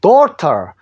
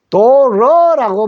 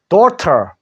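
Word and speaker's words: daughter: 올 그죠 뒤에는 없습니다 gh가 소리 안 났어요 소리 안 나는 거를 묵음이라 그랬죠 소리 안냅니다 그래서 길게 내쉬면서요 뒤에 터만 하면 됩니다 그래서 dorter dorter라는 말 요거죠 도트라는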